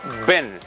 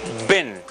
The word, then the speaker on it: been: Y usted dirá, ¿por qué está pronunciando una I más corta y más relajada cuando tenemos dos letras?